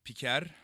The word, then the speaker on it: Piker: It's Piker, but I can't roll my R's. Since Americans, by and large, can't roll their R's, we're just going with Piker.